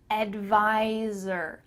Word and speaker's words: advisor: as a tax advisor make sure that when you say the word advisor there's a z sound there where the s is advisor i'm a tax advisor